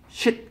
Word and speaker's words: sheet: 짧게 발음하면 욕이 되고요. 욕이 아니라 똥이죠, 똥. Sheet 그럼 똥이고요.